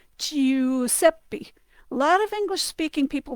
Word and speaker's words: Giuseppe: Similarly, if you take I, the letter I plus U, E, U, and if you go EU, you can hear that also sounds like a letter Y in English, but not really. It's not like U. It's EU, like in the name Giuseppe.